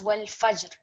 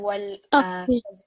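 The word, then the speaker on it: والفجر: So read it as wal fajr. So rather than wal fajri, it'll be wal fajr.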